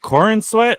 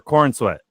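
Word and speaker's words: Corenswet: So like, that's completely fair if you think that David, is it Corin Sweat or Corn Sweat? Corin, right? Corin. Yeah, I guess so. But you can say either. Corin Sweat.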